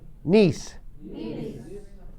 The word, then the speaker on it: niece: Porque muchas veces, Salvador, la E final no se pronuncia en inglés. Entonces, en este caso no se pronuncia. Y E se pronuncia muchas veces como I.